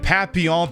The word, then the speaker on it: papillon: in sharjah there uh i'm pronouncing it papillon because that is french for butterfly so we're going with the french pronunciation of papillon rather than papillon see a japanese not